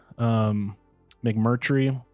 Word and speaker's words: McMurtry: And apparently the author, McMurtry, I think is how you pronounce his last name.